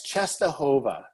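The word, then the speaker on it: Częstochowa: don'ts about sister just to come up I'm pronouncing correctly yeah it's Czestochowa just a whole lot yeah yeah so Our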